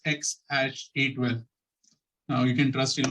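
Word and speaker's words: X Æ A-12: innovative name for her which is pronounced as x-a-12 now you can trust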